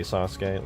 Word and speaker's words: Sasuke: Sasuke, listen. It's pronounced Sasuk, first of all.